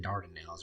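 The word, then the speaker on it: Dardanelles: think I tried to I called it ardan now it should Dard nails or I mispronounced that at some point in the podcast.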